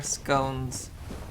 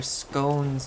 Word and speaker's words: scone: Son is produc is pronounced with a short O. I have never heard anyone in my area pronounce it that way. So, might be a accent thing. I could definitely see the Brits for whom we we acquire scones uh pronounce it scone. I could see it being pronounced scone. But uh in my neck of the woods, in my part of the world, those are scones, boss.